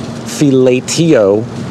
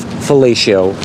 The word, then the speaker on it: fellatio: Saxon thought the word was pronounced fellatio, and Clark had the hard A idea in his head of fellatio. Clark, however, won out on the debate, luckily, because that is actually the right pronunciation of it.